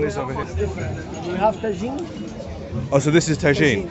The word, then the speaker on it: tagine: So this is tangine. Tagine.